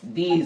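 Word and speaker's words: this: এবার এটা উচ্চারণটা বলো, দিস, একটু টান দিও, মাঝখানে একটা রসি আজকে দেই নাই, এমনি উচ্চারণটা হচ্ছে দিস, দিস। ইতে একটুখানি টান হবে, এগুলি, দিস অর্থ এগুলি, এগুলি কাছের, এটা কি বুঝিছে?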